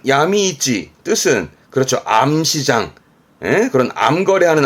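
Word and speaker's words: 闇市: 발음은 야미이찌 뜻은 그렇죠.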